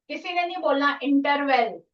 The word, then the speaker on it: interval: is and the last one is interval interval Interval. Wrong pronunciation.